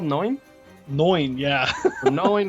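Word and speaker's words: Neun: And by the way, can I just note that card, I finally looked it up, and it's called Noin, which is not how I expect to pronounce N-E-U-N.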